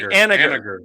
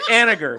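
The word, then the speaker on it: Haniger: It's actually Aniger. It's Aniger. Mitch Aniger. No. Aniger.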